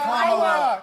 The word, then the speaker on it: Kamala: Let me So actually pronounce her name and right. Kamala Harris, if Kamala.